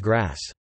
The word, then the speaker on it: GRAS: generally recognized as safe (GRA, pronounced grass).